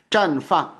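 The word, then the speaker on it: 绽放: 발음 조심하시고 띵자가 아니라 짠이에요. ZHA에. 그래서 绽放.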